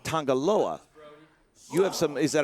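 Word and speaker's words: Tanga Loa: up color and elbow you say tangalawa like it's a different enunciation is that a uh i've always pronounced it tangaloa you have some is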